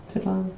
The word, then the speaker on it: Tenochtitlan: I recognize that, I don't know how to pronounce it. I've never heard it said. Tenochtitlan? Tenochtitlan. Something like that. Tenochtitlan, yep.